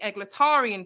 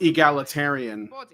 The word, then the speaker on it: egalitarian: focuses on criticizing the egletarian position which I would say it's pronounced egalitarian eglitarian eglitarian I like that that sounds like like a character from a pulp novel.